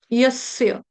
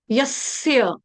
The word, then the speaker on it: यस्य: यस्य यस्य और स्य कौन सा है? स्याही वाला। स्याही वाला। स्यापा वाला। स्याही स्याही सय्य सय आधा स और पूर्ण य यस्य यस्य यस्य यस्य ओके यस्य अभी मैं खाली